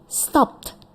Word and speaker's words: stopped: stopped. Stopped with ya karena stop kita coba stop no vibration ya stop dipegang tenggorokannya tidak ada vibration this is unvoiced karena itu kita bacanya stopped with the stopped.